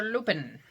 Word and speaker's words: lupin: I know she says it's sprouting lupine, but it's spelled lupin. And I always think of Monty Python and you shall buy me a loopin.